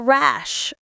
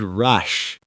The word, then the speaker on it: rash: Rash with an a sound, not rush.